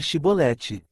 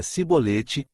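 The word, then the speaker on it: שיבולת: Se respondesse que não, os homens de Gileade lhe diziam, então diga Shibolete. Se ele dizia Sibolete, não podendo pronunciar corretamente a palavra, eles o agarravam e matavam nos vales do Jordão.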